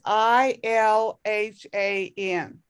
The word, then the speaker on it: Ilhan: is the name the way i understand his pronunciation ill hand you know yes hilhan that's the way i'm understanding it and it's i l h a n ilhan yes ilhan thank you i don't think